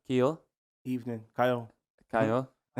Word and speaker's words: Kiel: Evening, Kyle. Kyle, how we doing? You I good? don't mind though, because obviously the way it's spelt, it's not spelt the way it's normally.